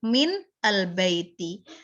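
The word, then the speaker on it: من البيت: Ya, sebenarnya tulis min itu sukun, min al-baiti. Tetapi ketika kita bilang min al-baiti, mulut kita agak kesusahan, lidah kita agak kesusahan. Maka difathahkan, bacanya difathahkan. Minal baiti, ya lebih ringan ketimbang min al-baiti.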